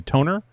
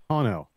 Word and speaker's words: tonneau: I had, you know, I have that Best Top, and you always have to pronounce this for me, toner cover? Tonneau.